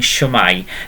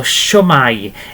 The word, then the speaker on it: shwmae: So you've already heard me saying shwmae.